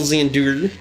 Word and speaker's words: Xandur: Made by Xandur. That's how you pronounce our last name, by the way.